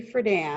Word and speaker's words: Friedan: Iconoclast Betty Friedan, and that's how you pronounce her last name, rejected the notion that biology is destiny in her 1963 revolutionary work, The Feminine Mystique.